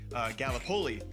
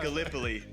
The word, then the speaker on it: Gallipoli: because being from Iowa, I said Gallipoli, and it is pronounced Gallipoli.